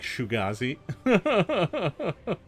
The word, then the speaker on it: Shoegaze: Oh, it's pronounced like Shugazi.